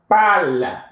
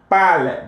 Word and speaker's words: parle: Je parle. Je parle. The E is silent. It is written, but it's not pronounced.